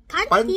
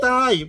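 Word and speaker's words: pantai: Which is Ah, panty. Pantay. Not panty pantay.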